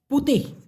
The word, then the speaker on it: putih: এবার এই যে জিরার কথা দেখুন, মূলত একটা হলো জিনতান পুতিহ, PUTIH, উচ্চারণটা দেখুন, জিনতান, তারপর হচ্ছে পুতিহ।